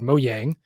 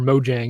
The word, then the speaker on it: Mojang: he founded this company called mojang or mojang if you want to use the american pronunciation of it they helped